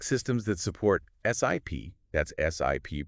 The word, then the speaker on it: SIP: That's SIP pronounced like you're taking a sip of water.